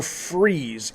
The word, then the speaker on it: Fries: help me out here it's ed fry's or freeze it's spelled like fries f-r-i-e-s but it i think people say freeze but this is the